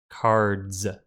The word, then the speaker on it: cards: This means if we make card plural, that S is pronounced like a Z. Cards.